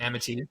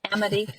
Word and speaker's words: Amity: And I'm doing the same thing for Amity. And I said it wrong. Thank you. Amity. Amity.